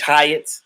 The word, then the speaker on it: Hyatt: we we uh yeah mitch hyatt like like hyatt it's spelled like the hyatt hotel h y atc um